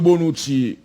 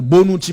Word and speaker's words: Bonucci: Juan Cuadrado qui joue Leonardo Bonucci, passe raté de Leonardo Bonucci, la feinte, ballon dans l'axe pour Messi, non Messi ça pas bon.